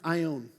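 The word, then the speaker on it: αἰών: and it's this great word right here it's pronounced i own and i own is a interesting word that's used for time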